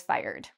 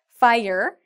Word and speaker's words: fire: But if you ever do, you can say, I was fired. Okay, so in terms of pronunciation, fire, it's 2 syllables. Fire. And it rhymes with hire.